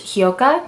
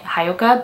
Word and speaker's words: Hyouka: I just watched Hyouka. I think that's how you pronounce it. For a long time I was pronouncing it Hyouka, but then when I